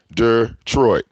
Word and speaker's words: Detroit: be misspelled it says detroit der troy detroit and detroit two two ways that detroit is pronounced you see that i just pronounced it the white way some people say it the red way what is your issue